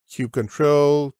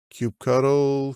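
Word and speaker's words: kubectl: Linux and windows and you pick your choice of pronunciation cue control Cube cuddle Cube CDL doesn't matter it communicates with the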